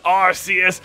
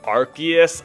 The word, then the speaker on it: Arceus: phone in the game we're getting a call on our rs phone instead of our arc phone so i think that's